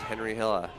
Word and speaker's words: Henri: weren't sure if he went with the French pronunciation of the name. But from the crowd, it looks like he is Henri Hila.